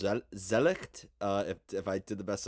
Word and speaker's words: Zwielicht: Your new album, which I believe is pronounced Zwielicht, if I did the best I could there. Yeah, it's a German word. It's called Zwielicht, or you could maybe call it Zwielicht Yeah. or something like this. Zwielicht.